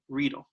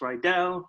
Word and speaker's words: Riedel: of times it's mispronounced rydell riedel but it is real and uh just as a friendly reminder it does uh kind of sound like needles or reader like needle so the next time